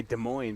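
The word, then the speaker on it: Des Moines: sound French cuz it's you say De Moine but it's spelled Des mois don't say that in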